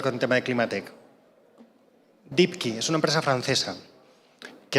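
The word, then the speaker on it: Deepki: voy a dar con el tema de climate dikiy es una empresa francesa que es muy raro además que empresas dikiy se escribe como profundo y luego k y vale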